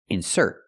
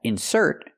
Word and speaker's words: insert: the verb is pronounced insert we put the stress on the second syllable so we have two